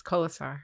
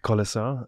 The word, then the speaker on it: Kolesar: me I'm here with Lara kisar am I pronouncing your last name correctly yes kisar kisar um we're here in Boulder Colorado my second